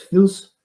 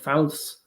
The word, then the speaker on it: fils: The different ways to pronounce it because of the different Arabic dialects. Fils is one way. Fils, fals, yeah, Phyllis.